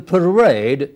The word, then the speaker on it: parade: that in these words in musician the middle part is stressed in parade it is second syllable which is stressed so is the case